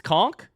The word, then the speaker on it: conch: It's conchk.